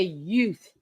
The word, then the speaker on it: youth: No, Alicia, when in the movie My Cousin Vinny, he's trying to say youth, like youth in younger children, and he goes utes, and a ute is a young goat.